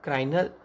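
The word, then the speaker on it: cranial: सो उसको हम क्या बोल सकते हैं, उसको प्रोनाउंसिएशन करने के लिए भी यहाँ पे मैंने दिखा है क्राइनिउल। तो उसको हम बोलेंगे क्राइनुल।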